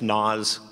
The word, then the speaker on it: Naasz: My family says Naasz, but you know, coming from the Northwest, you have to use a little nasal when you pronounce it in order for it to be right.